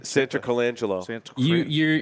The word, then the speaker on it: Santarcangelo: Santarcangelo.